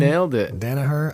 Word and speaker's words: Danaher: Danaher. I love people's names that are pronounced exactly like they look.